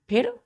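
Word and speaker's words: foe: एफ ओ ई फो एफ ओ ई क्या पढ़ते हैं इसको फो ई साइलेंट हो जाता है यहां प इ ई को हम प्रोनाउंस नहीं करते फो का मतलब होता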